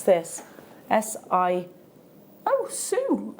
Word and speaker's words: Sioux: Oh, Sue. Sue in Cumbria. As in, yeah. S-I-O-U-X. Sue. Is that... Yeah. Is it American for Sue? Because Native American. The Sioux Indian.